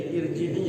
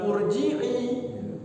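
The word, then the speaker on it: ارْجِعِي: Kalau di ini jadi irji'i ya bukan urji'i. Iya, kalau kita tidak tahu kan urju'i atau urji'i atau arji'i. Jadi irji'i.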